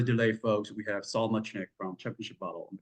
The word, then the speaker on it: Muchnick: Am I pronouncing Muchnick?